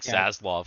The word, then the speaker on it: Zaslav: talking about before hopefully zazloff i think is i've heard his name pronounced a bunch of different ways but i like saslov because it sounds tough um hopefully he kind